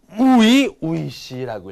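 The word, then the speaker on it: 初々しい: 뭐 하지메 때 이런 거 많이 읽었는데 이렇게 이 형용사가 되는 건 여러분들 아마 또 처음인데 이거는 우이시라고 읽어요. 우이시. 이 초자를 우이라고 읽는다라는 거.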